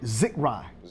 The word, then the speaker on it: Zechariah: How you pronounce it, sir? Zechariah. Zechariah.